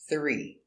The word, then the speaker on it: three: look at the pronunciation three first sound this sound make it very soft put the tongue by the teeth not not a lot of force not no just a little we go to the